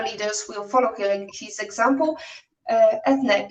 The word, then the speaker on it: Eithne: I have an Irish first name that is pronounced with an A at the end, even though it's Eithne.